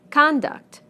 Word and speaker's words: conduct: Conduct, conduct. Progress, progress. Contract, contract. Object, object. Permit, permit. Again, we stress the first syllable in the nouns and the second syllable in the verbs.